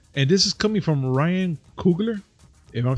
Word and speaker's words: Coogler: And this is coming from Ryan Coogler, if I'm saying it right.